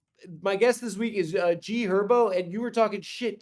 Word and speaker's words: G Herbo: It's also G Herbo. The H What is is going silent, on? bro. What? The H is silent. It's G Herbo.